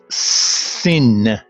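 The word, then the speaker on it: سین: The first letter I want to introduce would be Sin. The name is Sin, but it's pronounced S.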